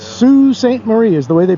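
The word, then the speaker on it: Sault Ste. Marie: out there Watchmen if you look up how it's spelled but it's Sue Saint Marie is the way they pronounce it and uh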